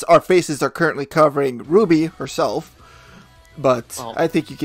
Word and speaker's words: RWBY: and that became Ruby it's pronounced Ruby but it's written capital R capital W capital B capital Y you can clearly see